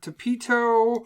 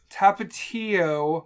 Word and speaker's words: Tapatio: My hot sauces were Tapito. Tapatio? Sure. Fucking pronounce it.